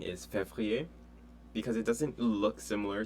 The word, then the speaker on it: février: They might most likely will forget the R after the V. So F-E-V-R-I-E-R. So février, and then also juin is